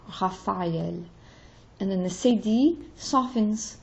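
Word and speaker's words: Raphaël: And then the tréma tells me to pronounce the second vowel instead of having it just kind of slide into like Raphael. It's Raphael. L is just as important as A, Raphael.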